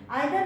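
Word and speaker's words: either: लेकिन आइदर में भी देख लेंगे ऐसा, आइदर, इधर गर्ल, या कई लोग इधर बोलते हैं आइदर, हम लोग शुरू से आइदर पढ़ चुके हैं तो हम आइदर प्रोनाउंसिएशन करते हैं, ठीक है ना।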